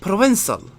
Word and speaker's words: Provençal: Il is pronounced /Provençal Provençal.